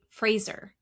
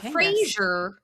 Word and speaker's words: Fraser: Barbie did, on her season, she was with, I want to say it right, Fraser. Not Frasier. Fraser, right?